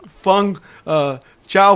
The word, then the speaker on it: Feng Chao: Feng Chao Feng.